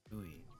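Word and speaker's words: Uh-ee: how to say it, but it's like spelled Uheee. ooey. Oh. It's ooey.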